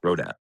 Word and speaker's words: Rodat: Rod. Yeah, with an R. Rodat.